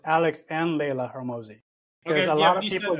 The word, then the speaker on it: Hormozi: Hormozi.